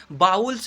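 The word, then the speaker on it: vowels: यह वावुल्स है आपका, यह वॉवेल्स नहीं बोलिएगा, कभी भी उच्चारण मत कीजिएगा, वॉवेल्स गलत उच्चारण है, बाउल्स उच्चारण कीजिएगा।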